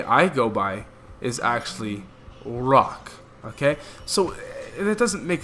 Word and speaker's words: Roch: So you gotta roll your R, okay?